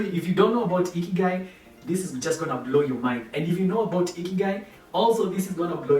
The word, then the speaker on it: ikigai: I want you to smile and I want you to lift up your cheeks and say Ikigai. That's how you pronounce it.